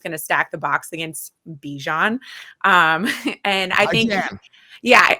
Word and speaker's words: Bijan: excited first of all his name is Bijan wow that's how he pronounces his name so okay okay we have to respect how someone pronounces their okay in my opinion